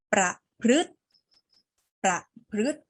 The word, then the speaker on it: ประพฤติ: ตัว สี ฟ้า ไว้ อ่าน ว่า ประพฤติ เรา ไม่ เอา เสียง ตัว ไหน เอ่ย ไม่ ออก เสียง สระ อะไร คะ ไม่ ออก เสียง สระ อิ ใช่ ไหม มา อ่าน ประโยค พร้อม